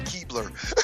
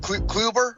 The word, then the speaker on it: Kluber: too, that I know I'm going to pronounce his name wrong because I want to call him Keebler. Oh, Clubber. I think of the Cleveland Elves Kluber. every time but his name is Kluber.